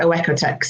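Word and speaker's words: OEKO-TEX: So I pronounce it Oekotex. It's Oekotex.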